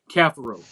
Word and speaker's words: Cafaro: He changed the pronunciation of his name, and you had I heard that. I was at the game, and I was like, "What?" Yeah, he changed it. The pronunciation, Cafaro, is how we're supposed to pronounce it now.